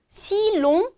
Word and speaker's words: si l'on: si long 여기서 펜 때문에 잘 안 보이지만 L 어포스트로프를 쓴 거는 우리 si on 이런 식으로 발음 안 하고 조금 더 부드럽게 발음해주기 위해서 편의상 그냥 L을 추가해준다고 했었어요.